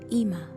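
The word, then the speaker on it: אמא: another form of mommy in hebrew commonly pronounced ima ama and variations of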